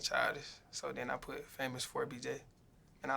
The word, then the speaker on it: FAMOUS4BJ: is famous with a number four BJ yeah famous for BJ do people mispronounce this um some people be trying to